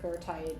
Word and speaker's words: goethite: That's your goite. Some people pronounce it gertite because they go all German on us.